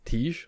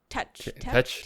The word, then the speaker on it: Tetch: Because like Blackbeard, because they called him like Tej, or I forget how you say it. Tetch.